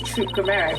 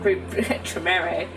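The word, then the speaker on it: Troupe Gramarye: Okay, that's this Troop Grammere poster, and I said it right this time instead of Group Tremere.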